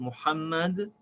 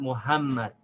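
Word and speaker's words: محمد: And a very important point to remember, this ha in the word Muhammad is the hard H, not the soft H. It's not Muhammad.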